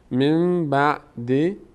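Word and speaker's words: مِن بَعْدِ: وای میستیم ثم بعثناکم نون ساکن بعدش با اومده تبدیل به میم شده نون تلفظ نمیشه میم تلفظ میشه قاعده اقلاب صورت می‌گیره اولین قاعده که گفتیم قاعده زنبور من بعد موتکم تشکرون ثم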